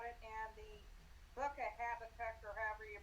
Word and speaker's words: Habakkuk: Oh, Greg, I was going to tell you, I thought about it, and the book of Habakkuk, or however you pronounce it, was the only one that was super depressing.